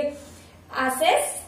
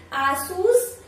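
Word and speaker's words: Asus: वाला ये वाला फोटो, सो गेस कीजिए एसस एसस एज एस, नहीं भाई आसूस आसूस नहीं नहीं ये है सही प्रश्न एस आ आसूस आसूस आसूस आसूस, ये वाला ब्रांड का प्रोनाउंसिएशन। ऐसे आप गलत करते हो, ऐसे इतना इजी है ये।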